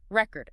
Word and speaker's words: record: OK, what about those words like record?Record. Minimal pair drills. Practice them back-to-back. Record, record, export, export. Really focus on shifting just the stress it trains control.